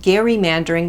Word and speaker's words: gerrymandering: here's a hilarious fact Jerry mandering used to be pronounced Gary mandering because the guy it originated with had the surname Gary and the Mander in